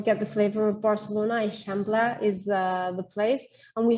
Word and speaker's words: Eixample: It's pronounced, well, it starts with an E-I-X, Eixample.